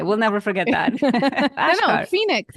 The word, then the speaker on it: Achkar: no, Ashkar.